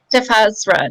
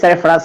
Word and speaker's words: Sarfaraz: Tafaz Run. How No, no, how do I yeah, spell that? no, no, no. My name is Sarfaraz. Sarfaraz.